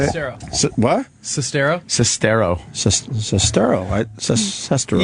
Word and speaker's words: Sestero: Sestero. Is that how you say it? Sestero.